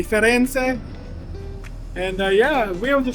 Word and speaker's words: Firenze: I said it right this time, the Firenze.